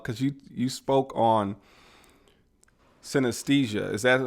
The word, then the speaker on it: synesthesia: on talk about because you you spoke on synesthesia is that how you say it yep that's